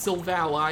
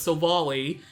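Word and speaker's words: Silvally: super effective and yes this pokemons name is pronounced Silve a lie I thought it was just so volley but the anime says it's sold a lie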